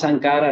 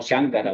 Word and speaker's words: Sankara: Sí, esto es como Tomás Sankara, no Shankara o algo así, ¿no?